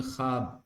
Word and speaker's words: ख्वाब: इसमें ख्वाब वाव देखिए साइलेंट हो रहा है ना, ख्वाब खुश वाव जाहिर नहीं हो रहा, तो वाय मादूला है ये।